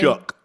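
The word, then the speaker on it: Shough: Tyler, how do you pronounce his last name? Shook.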